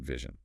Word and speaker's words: vision: You need that voiced V sound at the start. V V. Make sure your bottom lip touches your top teeth and vibrates. And that middle sound, the C, it's not an e sound. It's a zh sound like the is in measure or pleasure.